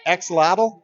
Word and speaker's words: axolotl: Am I pronouncing that right? Axolotl?